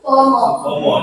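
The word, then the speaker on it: Soepomo: asas asas yang kedua ada siapa tulisannya Suomo, bacanya Suomo. Supomo.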